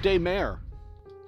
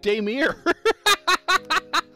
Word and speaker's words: Daymare: Oh, Daymare. I've been calling it Daymere.